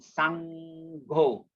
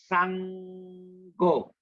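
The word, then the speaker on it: Saṅgho: M with the dot, and Sangho, N with the dot on the top is pronounced as NG. Remember, NG. So the word is Sangho, not Sangho. Yeah. So sometimes we mispronounce this word, we say Sangho, but it should be pronounced as Sangho. Sangho, because it's double G actually.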